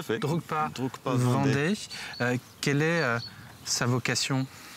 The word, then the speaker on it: Drukpa: Alors, vous avez créé une association qui s'appelle Drukpa, que je prononce bien, non ? Oui, tout à fait. Drukpa Vendée.